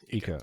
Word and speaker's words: Ika: Is it Aika or Ika? Aika? Ika. Okay, yeah, because some people thought